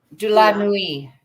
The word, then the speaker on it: de la Nuit: De la Nuit. How do you pronounce it? De la Nuit. De la Nuit. Okay.